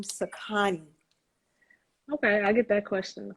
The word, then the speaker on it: Sakani: um the name is jess so i am pronouncing it correctly sakani candles correct okay yes perfect yeah i i